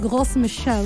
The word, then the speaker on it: Gros Michel: The thing that happened to the Gros Michel, if I'm going to pronounce it in French, is that because it